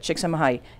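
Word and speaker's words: Csíkszentmihályi: concept that has been pioneered by chiksa mahay which that's how you say it so if you're at a party and you want to you know use that master's degree this is how you say it shiksama hai it's a very long name and it doesn't look anything like it right so let's take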